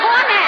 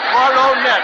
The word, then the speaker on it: Coronet: You thought you said cornet. I said corono net. Three syllables.